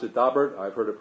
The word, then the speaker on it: Daubert: the family pronounces it dobrik so I'm going to pronounce it daubert I've heard it pronounced many of the ways and that's certainly not the French pronunciation but we're going um